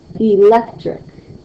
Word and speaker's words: electric: in the second syllable, like electric, electric. You can hear how E is less, and then lec is the louder part, and then trick is softer again.